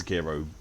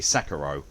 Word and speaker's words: Sekiro: I know how to pronounce Sekiro properly. It's actually supposed to be Sekiro, but westernized Rangers keeps going for Sekiro every single time.